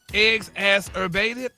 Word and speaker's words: exacerbated: It's pronounced eggs assurbated.